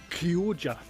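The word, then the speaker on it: Chioggia: found out what those because I've never been able to pronounce whose pink colored ones with the bullseye in the middle Pooja that's how you pronounce it and apparently it's a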